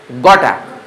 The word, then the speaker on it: gotta: These words are pronounced as gota in informal English.